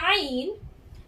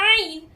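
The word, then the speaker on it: عين: If I say the letter Ain, it is pronounced from the throat. I say that the origin of the letter Ain is the throat.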